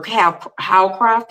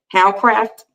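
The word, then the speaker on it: Hawcraft: She used to work for Howcraft, is how you say it. Howcraft.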